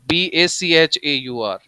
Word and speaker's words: Bachaur: Pronunciation is almost same. It is Bachor, Bachaur, Bachor, found in Bihar. So do not confuse it. The spelling should be right. The Vechur starts with V and it is the smallest cattle breed.